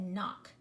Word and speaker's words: knock: be if you said knock you are exactly right like to knock on the door but you do not hear the K it is silent it is a silent